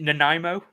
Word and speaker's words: Nanaimo: I never pronounce this right. Is it Nanaimo bar? Yeah, Nanaimo bar.